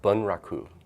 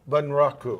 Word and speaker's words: Bunraku: I worked in a Japanese puppets now Claude Bunraku and it took three puppets earth-sun three puppeteers to operate one how is that pronounced eeeh Bunraku Bunraku yeah bu n ra okay ancient Japanese puppet